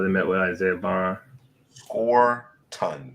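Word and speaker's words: Scourton: Score ton seems to be the guy pronunciation. Thank you, Okay, Dana. Scorton.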